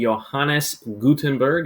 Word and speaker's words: Johannes Gutenberg: This fella would be Johannes Gutenberg, is how you pronounce it, and enjoy the video.